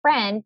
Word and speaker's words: friend: The only part that's tricky on this word is the IE. That E sound in friend is made by an IE.